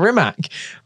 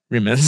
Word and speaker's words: Rimac: Rimac, on to share their stories. And if that helps everybody... You won't if you keep pronouncing his name wrong. Rimac.